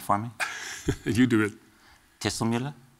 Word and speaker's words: distelvlinder: Can you pronounce it for me? You do it. Dislinda. Distender.